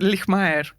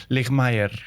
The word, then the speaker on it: Lijtmaer: Pues eh diría como suena, como está escrito, pero es Lmer. Ligmaer, ¿vale? Porque yo diría Lake Meer es todo el mundo pone una ahí en medio que pero no no existe.